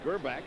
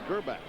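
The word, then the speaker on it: Grbac: their quarterback elvis gerbach now the reason we say gurbak is because we asked him last night he's croatian as he told us that uh that's the way they pronounced it in the family it's kerbbach i've been doing it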